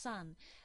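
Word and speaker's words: 山: of sun now this sun yeah it is Yama meaning Mountain but when placed after the name of the mountain it's pronounced son that's not the same Sun as in uh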